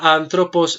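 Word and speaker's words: ἄνθρωπος: es difícil escribir tengo la palabra anthropos a esta palabra anthropos la voy a separar yo solito para que porque tiene sus irregularidades sílaba seria si a an pero vos como ven son tres sílabas 2 pero ian el acento estaba sobre la última penúltima ante penúltima sílaba aquí tengo el acento y cae a condición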